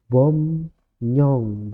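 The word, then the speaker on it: 법령: berubah nih Gung NIM Bob rong jadinya bom Nyong dua-duanya juga berubah ee teman-teman kalau belajar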